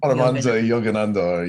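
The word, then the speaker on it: Paramahansa Yogananda: I can never pronounce his name, but yeah. I believe it's Paramensa Paramensa Yogananda.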